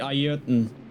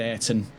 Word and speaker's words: Ayrton: It's technically Ayrton, or Ayrton, but everyone said Ayrton in Britain.